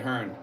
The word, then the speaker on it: Herne: Michael L, at Steve, the E in Herney is silent. Okay, Hearn.